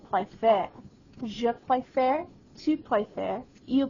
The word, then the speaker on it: préfère: On this verb, the accent aigu on the second E becomes an accent grave. It does change its pronunciation from préférer to préfère.